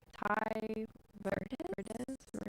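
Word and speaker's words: Tai Verdes: Ty Verdes. That's how I pronounce it.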